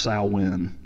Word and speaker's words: Samhain: pagan holiday it is it is written as Samhain but it's actually pronounced I win it was the end